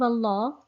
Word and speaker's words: Allah: in the name of allah um the lamb is pronounced thickly when it's preceded by a fatter or by um so